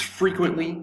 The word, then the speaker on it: frequently: i scroll down uh is frequently frequently frequently three syllables frequently the accents over the first syllable frequently frequently frequently frequent the t kind of disappears frequently it's an adverb